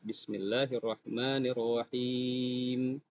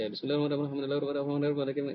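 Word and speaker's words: بسم الله الرحمن الرحيم: Jadi kata bismillahi la panjangkan dua harakat arrahman ya maanya panjang arrahim jadi perlahan cara membacanya. Jadi kalau misalnya ada yang baca bismillahirrahmanirrahim itu kayak apa ya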